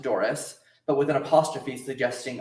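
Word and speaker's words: Dory's: D O R Y apostrophe s pronounced Doris, but with an apostrophe suggesting ownership, contraction, turning away.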